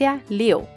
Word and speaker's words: 六: The number six is pronounced (liu4) 六 fourth tone, the character looks like a person with open arms and legs, but without a body.